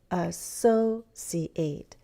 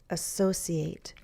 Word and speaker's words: associate: Associate. Bum, bum, bum. It's that second syllable. Associate.